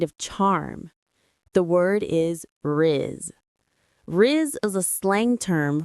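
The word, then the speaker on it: rizz: The pronunciation is one quick syllable. Riz r i z. It rhymes with is or fizz.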